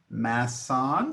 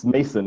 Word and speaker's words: Mason: So Masson from did I pronounce that the last name correctly? It's Mason, M-A-S-O-N, Mason.